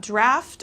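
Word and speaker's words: draught: So that's I think you're talking about draft, or you wanted me to pronounce drought again. If there's an O, then it's drought. If not, it's draft.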